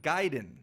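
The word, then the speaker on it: Gaiden: conversation totally growing up it was like ninja gayen ninja giden that's so good to hear it's ninja giden that's great do you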